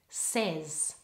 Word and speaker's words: says: the double vowel a say in says we pronounce it just with an ear a short it Val says and the same thing in said try them